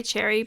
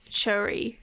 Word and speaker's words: Choerry: I want to say Cherry, but it's Choerry.